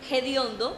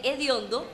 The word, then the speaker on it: hediondo: Por ejemplo, hediondo en vez de hediondo o harto en vez de harto. Rumores del Teide es un